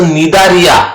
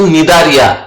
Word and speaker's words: Cnidaria: It's a Cnidaria, not a Cnidaria. It's a Cnidaria, where here C is silent.